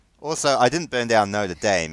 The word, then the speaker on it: Notre Dame: Well, also, I didn't burn down Notre Dame.